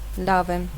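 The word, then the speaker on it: լավ եմ: Lavem.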